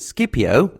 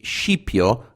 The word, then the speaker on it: Scipio: By the way, I've pronounced it Scipio, as I heard from Mike Duncan and other history podcasts, whereas in Italian it would be Scipio, abbreviation of Scipione.